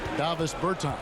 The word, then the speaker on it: Davis Bertans: Oh, well, now, at this point in my life, it's Davis Bertans. Is that how you say his name? Yeah. Davis Bertans.